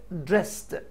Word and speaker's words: dressed: get dressed get dressed الـ ed هنا تتنطق ت sound get dressed.